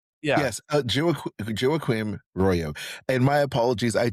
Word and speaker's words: Joaquím: because I did practice with him how to pronounce his uh first name, which is Jakim Royo. Uh, I love it. Yes, Jacquim Royo.